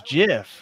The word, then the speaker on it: GIF: call it emoji okay it's gif is it gif I always say if people tell me it's Jif it's a hard a hard G hey moms say gif